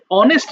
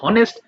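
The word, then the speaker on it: honest: এই কারণে ওরা যেহেতু অনেস্ট বলে, তাই এখানে আমরা হনেস্ট কোনোভাবেই বলতে পারবো না। এই কারণে এখানে পার্থক্য দেখিয়েছি, একটাতে এইচ উচ্চারণ হয়েছে আর একটাতে হয় নাই।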